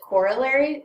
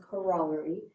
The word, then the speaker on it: corollary: You can pronounce it corollary or corollary. I tend to go with corollary.